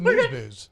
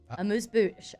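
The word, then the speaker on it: amuse-bouche: Well, what's a moose booze? Yep, that's what we're gonna call it now. What are you saying? Amuse bouche.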